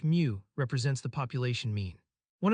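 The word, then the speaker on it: μ: X, the Greek letter mu, pronounced mu, represents the population mean.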